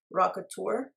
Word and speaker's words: Rockateur: I think this is pronounced Rockateur.